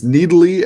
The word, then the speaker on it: Nidalee: wait fiddle that's how you say it it's nidalee and nesus i've talked to freak he laid